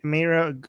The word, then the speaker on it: Meira: And then, hey Mera, am I pronouncing it right?